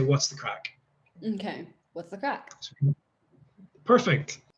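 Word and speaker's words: craic: can see the blog it's spelled c-r-a-i-c and it's actually simply pronounced crack crack um so what is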